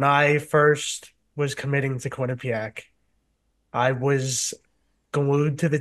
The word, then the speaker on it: Quinnipiac: This is Quinnipiac. great. I've been pronouncing it right for decades.